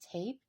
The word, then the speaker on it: tap: This word is tap. So the A sounds like ah in this word.